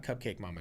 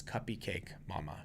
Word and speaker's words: Cuppy Cake Mama: Cake Mama, not Cupcake Mama, Trace. Don't say it wrong. It's Cuppy Cake Mama.